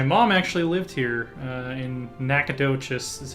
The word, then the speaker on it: Nacogdoches: their own my mom actually lived here in Nacogdoches is how they say it today Texas in